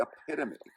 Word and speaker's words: epitome: this is the this is the epitome the epitome if you will it's the hyperb hyperbole if you will some people Mis pronounce it this is the epitome